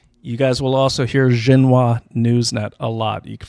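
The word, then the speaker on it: Xinhua: guys will also hear xenoa Newsnet a lot you can find them right on the internet right on um uh Twitter it's spelled x i NH uh x i n h UA like Jena um Newsnet they're actually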